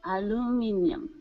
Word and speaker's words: aluminium: aluminum Alum aluminium aluminium that's really British if you want the American pronunciation we would say aluminum aluminum um yeah in England they would say aluminium but we'd say aluminum because because we're kind of lazy and any other questions